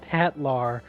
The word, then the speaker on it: Hitler: around town telling people hi my name is Hitler but it's pronounced it's pronounced hatlar and everyone's like but